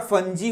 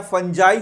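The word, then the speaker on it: fungi: एक और क्वेश्चन पूछ दूं तो तुम बताना जरा सा, जो तुम्हारा फंजी होते हैं या फंजाई होते हैं, इसको प्रोनाउंस अलग अलग तरीके से किया जाता है, उनमें कोशिका भित्ति किस चीज का बना होता है?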